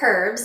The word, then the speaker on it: herbs: You mentioned herbs or herbs, as you would pronounce it in St. Lucia, yeah.